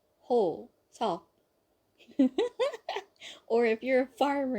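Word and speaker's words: Hoseok: Next, we have Hosok. Hosok. Like I said, that sock sound has to be there. Hosok. Ho. Like you're a cheating hoe type of hoe. Ho. Sok.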